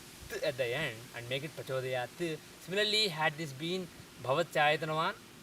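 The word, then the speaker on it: प्रचोदयात्: Prachodayat is the correct pronunciation, not prachodayat.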